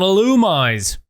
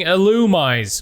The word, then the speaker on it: Illumise: in with a rag you've rubbed on an illumise so I have to issue an apology last episode I kept saying illumise instead of How It's actually pronounced illumise Pokemon fact number 314.